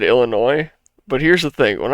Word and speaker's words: Illinois: I said it, it's Illinois. All right, I would always pronounce the S when I lived there.